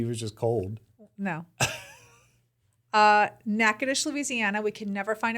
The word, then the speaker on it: Natchitoches: Natchitoches, Louisiana.